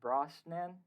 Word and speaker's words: Brosnan: recommend that to anybody um pierce brosten braun brosnan how do you pronounce his name yeah you got it it's